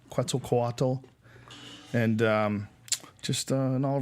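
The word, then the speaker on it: Quetzalcoatl: one called uh 2012 the return of quel quad is that how did I say it right good enough good enough close enough quel quatt and um just an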